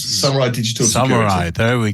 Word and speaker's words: Samurai: Samurai, as in the Warriors. Samurai Digital Security.